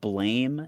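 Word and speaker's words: Blame!: you know what the manga, it's spelled blame exclamation point, but it's pronounced I do know blam. of it. Blam. I'm just gonna say blame because blam sounds stupid.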